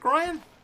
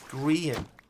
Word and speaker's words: Grian: Is it Brian? Or is it Grian? Genuinely don't know. It's Grian.